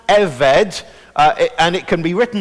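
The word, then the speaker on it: עבד: that big word in the middle, and it's pronounced eved, and it can be written now either as ebed or eved, with a little apostrophe.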